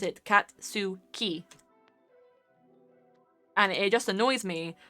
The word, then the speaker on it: Katsuki: people pronounce it as catski and it makes me want to rip my eyes out because it's katsuki that is how you pronounce the japanese name his name is katsuki